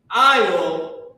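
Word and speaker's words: על: I'll Yaham. I'll. Who knows what I'll meant? Remember when you're walking down the aisle? That's how it's pronounced.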